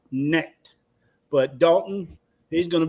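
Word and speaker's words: Knecht: Picking up, they pronounced them connect last night. I swear it's pronounced necked.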